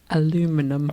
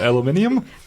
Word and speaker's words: aluminium: Believe that can is made out of aluminum. A not aluminium. Aluminium. That's way better. Aluminium is so much better. Spell it.